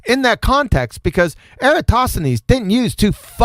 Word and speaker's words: Eratosthenes: tell us yes so eratosthenes uh you know which I find it hilarious that no flat earther can can pronounce eratosthenes what eratosity I